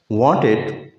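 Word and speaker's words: wanted: वांटेड, एन आ गया, उसके बाद टी है, टी की आवाज़ नहीं देते अमेरिकन, वांटेड, वांटेड। इसी तरह हम कहते हैं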